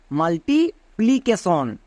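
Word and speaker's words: multiplication: MUL মাল, next TIT multi, PLI প্লি মাল্টিপ্লি, CA কা কিন্তু না, CAK, TION সন, তাহলে পুরোটা কি হলো? মাল্টিপ্লিকেশন।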